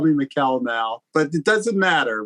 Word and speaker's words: Mikel: I know it gets a little confusing, but I'm mostly called Mikel at this point.